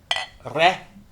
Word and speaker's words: Rrey: After you drink this beer, you're going to get E like bet. So Huh? it's like a eh. eh. Rrey. So it's rare.